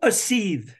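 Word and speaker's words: Aseethe: How do you pronounce that band? Oh, a seethe.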